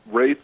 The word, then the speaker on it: Wraith: Okay, it's Wraith like faith, W-R-A-I-T-H. Rate, R-A-T-H? W-R-A-I-T-H, Wraith. It rhymes with faith.